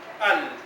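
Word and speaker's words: ال: Al. Se trata de colocar una alif y una L. Alif y L. Y se pronuncia al.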